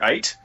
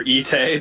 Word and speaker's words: Ite: I'm known as Mr. Ite, or Ite, depending on how you'd like to pronounce it.